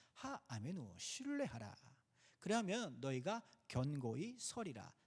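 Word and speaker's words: האמינו: 여기서 슈레하라라고 하는 단어가 하메누. 하메누 하메라고 하는데 제가 여러분들 듣기 싫어 쉽게 하시라고 하메우라고 발음하는 겁니다. 하 아메누 신뢰하라.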